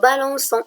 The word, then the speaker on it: balançons: Exemple, on dit nous balançons. J'ai ajouté la CD pour prononcer le son C et non pas le son K.